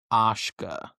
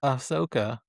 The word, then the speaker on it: Ashka: and her name is Ashka and I apologize in advance if I call her Ashoka because it's spelled very similarly. But her name is Ashka.